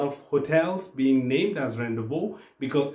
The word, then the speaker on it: rendezvous: aspect of loadrunner called as rendezvous point now rendezvous is basically a french word which is pronounced as rendezvous but written as rendezvous now